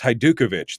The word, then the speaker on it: Hajdukovich: I see Brian says, pronounce her name again. It's Hajdukovich.